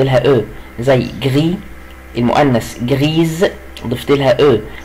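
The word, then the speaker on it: grise: او، زي جري المؤنث جريز ضفت لها او، وخلي بالي ان الاس هنا هنطقها وهنطقها زد لانها بين اتنين دو فويل، عشان كده بقول جريز.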